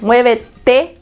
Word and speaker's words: muévete: So tiempo and muévete, like we pronounce because the Spanish alphabet, like when you say the T, we say it says it's A, B, C, whatever. And then when you get to D, it's te. That's how you say it. Te. Not T, it's te.